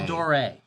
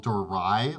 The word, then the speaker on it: Tal'Dorei: setting Tor Tor Tor Tor uh it's pronounced Tor so all of you people that were saying torai last week when we released a different video about this uh you were wrong and we don't want